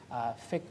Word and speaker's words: fiqh: ritual worship so that's called the word is thick so it's pronounced spelled fiqh thick of be bothered about it means worship the